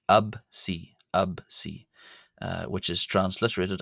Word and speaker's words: ⲉⲯⲓ: Uh in in keeping with how I was pronouncing the letter p previously uh as a b instead of a p absy absy.